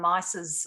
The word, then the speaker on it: Myss: into carol and mice's or mace however you'd like to pronounce her name some people pronounce it mace mice um i go in between mice i miss mace they do too it's nice so um i might stick with miese today yeah but she says